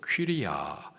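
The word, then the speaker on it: κυρία: 부녀 헬라식 발음으로 퀴리아 뜻은 여주인 부인 귀부인입니다.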